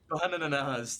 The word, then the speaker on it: BANANANAS: BANANANAS, there we go. Say it like the Vine, and you'll be fine.